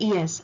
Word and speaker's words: est: the pronunciation pronunciation of es I do not say s I say e e EST is not